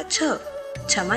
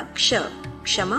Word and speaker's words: क्षमा: होना क्षमा कहलाता है संस्कृत में कश योग क्ष सूत्र के अनुसार क्ष से पहले क का उच्चारण होता है यानी क्षत्री वाला छ क्षमा नहीं क्षत्रिय वाला क्ष क्षमा होता है तो आइए अब हम